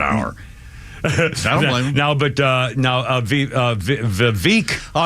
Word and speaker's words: Vivek: Just say it one time and let's keep Vivek. Okay, that's how we'll pronounce it from now on. Well, Vivek. I heard him say it. V as in victory, and every single Vivek time. as in cake.